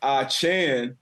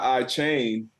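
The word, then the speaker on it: Achane: now with moster and a Chan not I chain um got that update a couple days ago to say his name correctly uh but you know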